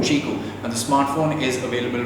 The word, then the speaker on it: QiKU: spelled as Qi KU it is pronounced as the fruit chiku and the smartphone is